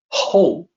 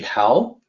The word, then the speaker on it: 厚: This is ho. So the pinyin system makes it seem like it should be how, but it is actually supposed to be ho.